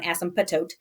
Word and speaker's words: asymptote: say it's called an asymptote the P is silent it's on asymptotes it's an asymptote an